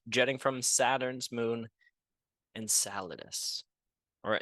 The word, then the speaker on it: Enceladus: surprisingly large plume jetting from Saturn's moon and saladous or Enceladus not too sure how to pronounce it but that's how I'm going to